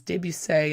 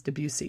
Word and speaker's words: Debussy: and it's Claude and I hear two different pronunciations Deb you say and then sometimes Debussy so I like to say Deb you say because it just sounds more exotic but he wrote that